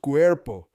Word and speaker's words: cuerpo: We hear the sound Q, airport, Q, plus air, plus po, cuerpo, pronounced cuerpo. The Spanish word for body is cuerpo.